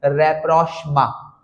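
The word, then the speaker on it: rapprochement: उसके लिए अंग्रेजी में एक वर्ड होता है रेप्रोष्मा।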